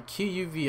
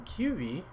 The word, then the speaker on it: quvi: going to be on qvi I think it's pronounced uh QV but it is a